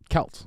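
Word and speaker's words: Celts: Yeah, cuz when you talk about Kelts historically, yeah, it's Kelts. Yeah. The only time I ever hear it pronounced that way is the basketball team.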